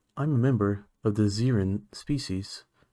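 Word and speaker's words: Zerrin: Anyway, I'm a member of the Zeren species. It's spelled Z-E-R-R-I-N.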